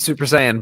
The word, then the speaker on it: Super Saiyan: turned into such a now what is a super cyan how do you say it Brent Super Saiyan but like no listen like what the Super